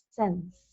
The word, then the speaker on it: sense: Pero aquí la sílaba está terminando en N. Por lo tanto, no vamos a decir I. Vamos a hacer un sonido corto. E. Sense.